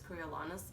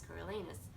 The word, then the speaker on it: Coriolanus: to pronounce his name I actually read the entire book called in Carolina's coriolanus in my head and then I rewatched The Hunger Games and I realized it's coraliness so I don't know